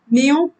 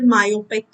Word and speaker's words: myopic: Mayo का pronunciation mayo नहीं है, mayonnaise नहीं है, ये है myopic.